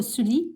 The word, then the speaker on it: Sulis: Donc, on va travailler avec Sulis, la déesse Sulis, ok? Ou Sully, ça dépend comment vous prononcez, mais en tout cas, on va travailler avec cette déesse pour cette lunaison.